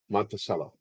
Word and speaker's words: Montello: pronounce mountain in Italian how do you pronounce the instrument cello now put those together Montello there you go monello